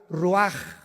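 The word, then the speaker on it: רוח: Se pronuncia la ch en hebreo como J. Ruaj, se le salió y se traduce espíritu.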